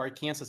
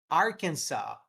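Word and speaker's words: Arkansas: O Arkensas para mim era Arkensas. Arkens, deixa eu ver. Arkansa. Arkansa. Hum.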